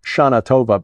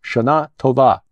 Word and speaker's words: Tova: shatova I mean it we Americans English speakers probably try to pronounce it shatova no it's shat TOA I'm reliably informed because Sharon looked well